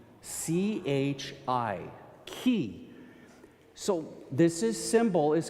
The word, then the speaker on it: chi: This other symbol right here is an X, and that is called in Greek a chi. C-H-I, chi.